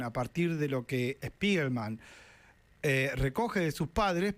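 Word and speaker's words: Spiegelman: Estuvo en Argentina Spiderman estuvo en Argentina el amigo Art Spiderman y Spiderman es verdad se pronuncia así.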